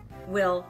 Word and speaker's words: Will: Will, with one L. Well, that would be pronounced Wheel in Japanese, but it might be, but yeah.